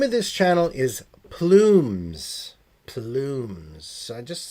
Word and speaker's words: Plumes: the sheet, I'm like, how do you say that? Pum. Pumis. Pumis. So, when I went into the onto the link, there is an L there. It is plumes is the name of the channel here.